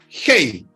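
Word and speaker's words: ἡ: Y la palabra llamamiento se escribe, son dos palabras, hei, H-E-I, H-E-I, hei, H-E-I, Kleisis, K-L-E-I-S-I-S.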